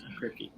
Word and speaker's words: Kripke: Is that how you pronounce his name? Kripke? Yes. Kripke.